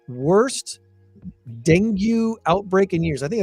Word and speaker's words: dengue: by by the way it's Dengue Dengue is what it's how it's pronounced I just looked it